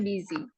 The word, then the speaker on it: busy: Bacanya busy. Tulisannya busi tapi bacanya busy ya.